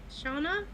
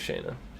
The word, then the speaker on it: Shauna: Shauna? Shauna, is that? I thought it was Shayna. Shauna. Okay. I don't Spelled like Shayna. Shauna usually has a U in it.